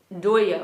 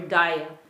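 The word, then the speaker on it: दया: Doya or daya. Bengalis like to make this O sound. So in Sanskrit, they would pronounce it daya, but Bengalis, they tend to use the O sound a lot, so doya.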